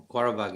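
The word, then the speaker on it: Qarabağ: Hey, all props and due to Zavi, but Quarabag, or is that how you say it? Quarabag, yeah.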